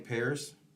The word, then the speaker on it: Paris: Okay, it's spelled Paris, but it's pronounced Paris like the city.